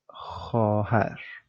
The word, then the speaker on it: خواهر: So here, it's as if the V doesn't exist. You would just remove it and read it like it's خواهر. خواهر. خواهر. The V is written, but it's not pronounced.